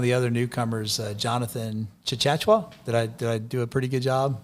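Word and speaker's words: Tchatchoua: about one of the other newcomers uh jonathan chachachua did i did i do a pretty good job of pronouncing that very very very close yeah chachua he is a i watched him in practice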